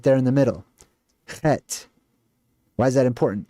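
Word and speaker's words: חית: Het. If you write it out, it looks like Chet. C-H-E-T. Het. Hate. Depending on your pronunciation.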